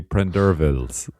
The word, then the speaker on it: Prendervilles: I know Pauline always corrects me because I keep saying it wrong. It's actually Prendervilles, but yeah.